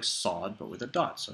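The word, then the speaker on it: ص: gives our next letter sod this is pronounced like the strong s sound in sauce and all these letters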